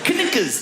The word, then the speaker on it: knuckles: Of all the letters, why would a K BE SILENT? KNUCKLES.